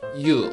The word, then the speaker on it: ㅠ: This diphthong sounds like U, like English word Y-O-U, U. It starts from unclear Y sound, glide Y sound, and finish with U, U.